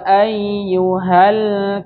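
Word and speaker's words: أيها: Qul ya ayyuhal kafirun. 1 2 3. Qul ya ayyuhal kafirun. Ya. Bismillah mal. Jangan lepas ya. Ayyuha. Ingat-ingat di situ ada tasdid. Ketika ada tasdid maka dia ditekan membacanya ayyuha.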